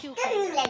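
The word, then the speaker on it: cucumber: क्यूकम्बर।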